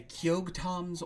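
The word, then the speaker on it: Keoghtom: it's pretty cool the second item is a kyog tom's ointment kyog tom is spelled k e o g h t o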